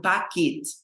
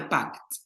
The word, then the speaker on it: Paket: Mein Paket. Olha só. Olha a pronúncia, pessoal. Paket. Não é pact. Pact é pacto. É paket. Pact, paquete.